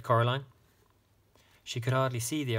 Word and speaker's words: Coraline: They kept saying Coraline. Not Caroline. Not Caroline at all."